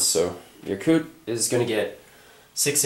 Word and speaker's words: Yakut: here essentially you're going to be consolidating in yakut and that's how you pronounce that i actually checked the pronunciations of what most of these territories i'm about to pronounce so yakut is going to get six infantry of the